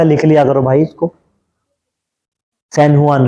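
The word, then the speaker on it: San Juan: लिया करो भाई इसको सनहुआन रिवर ठीक है जे को मैं एच प्रोनाउंस करूंगा हुन रिवर जुान नहीं बोलूंगा उसको।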